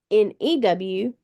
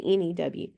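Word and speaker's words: knew: example very common new n e w versus new K NE W when I pronounce them new and new they sound just alike sounds like just the same word sounds like I'm just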